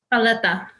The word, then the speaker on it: paleta: Paleta.